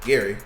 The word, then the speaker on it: Gary: Is it Gray or Gary? I always say his name wrong. Gary.